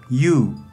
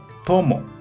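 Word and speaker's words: 友: Para pronunciar, onyomi yu, yu. Kunyomi tomo, tomo.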